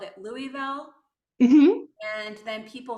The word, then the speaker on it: Louisville: from Bowling Green to Louisville um it's Louisville bigger than or smaller than Lexington Louisville oh actually actually they are the biggest yeah you don't pronounce the S at all right yeah it's Louisville so I always say